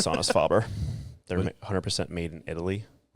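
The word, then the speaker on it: Sonus Faber: Um, right now it's Sonus Fabber. They're 100% made in Italy. What was it? How do you say that? Sonis Fabber.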